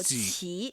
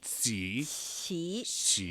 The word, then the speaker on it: 奇: It's not the CH sound from English, right? It's somewhere in between. Somewhere in between. Yeah. So 奇. 奇.